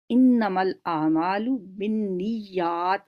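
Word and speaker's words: إنما الأعمال بالنيات: کو یاد کرنا ہے، عربی متن کے ساتھ انما الاعمال بالنیات، نون پہ بھی شد ہے، یا پہ بھی شد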